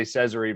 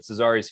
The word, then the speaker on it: Cesari: sports clinic dr cesari have i pronounced that right that sounds good i usually say cesary but cesari's fine too i've heard it all